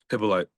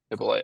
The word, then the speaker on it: Hyppolite: Pippen Light. Pippen Light.